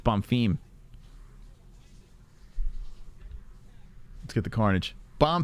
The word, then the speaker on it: Bomfim: __ ] name wrong i'm calling bomfin it's bomb theme let's get the carnage